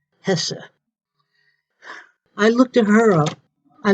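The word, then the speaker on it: Hesse: art one of them is eva hessa h-e-s-s-e pronounced hessa i looked at her i looked her up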